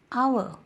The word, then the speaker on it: hour: Hour, here H is silent and the word is giving vowel sound, hour, so that's why we are using an.